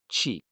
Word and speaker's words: ち: This one is chi, pronouncedqi.